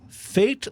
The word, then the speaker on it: Fait: with uh Nashville Tennessee's fate laforce brewing and fate is spelled fait like fate comple but fate laforce